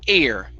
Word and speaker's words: air: so right here um what you're saying is hair what's on your head okay so we don't want to say hot hair balloon but hot air hot air balloon hot air balloon there